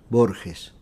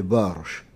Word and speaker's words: Borges: En général, chez moi, on prononce Borges. Mais peut-être cette G offre quelques difficultés aux Français. Quand j'étais étudiant à Genève, tout le monde m'appelait Borges. C'est-à-dire, on lisait cela d'une façon phonétique. Alors, pour moi, c'est la même chose. La vraie prononciation, c'est une prononciation portugaise d'il y a deux siècles, ce serait Borges.